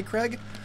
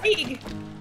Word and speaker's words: Krieg: I tried to play Craig, and it just didn't feel right. Like, it's Krieg.